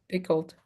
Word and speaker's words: pickled: Okay, so remember picked pickled picked. Exactly. We pronounce the D but we don't pronounce the E.